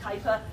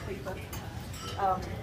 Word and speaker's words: Kuiper: But actually somebody called Kuiper, a Dutch astronomer, and don't let anybody tell you it's pronounced Kuiper, it's not, it's Kuiper. I've asked Dutch people to make sure I know how to pronounce it.